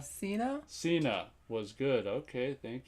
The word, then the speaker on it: Cena: John since how do you say that name senya Cena Cena was good okay thank you Garcia I've heard about that but I haven't seen it yet I like Jackie Chan I'm not so sure about John Cena Yeah that guy can he's in the other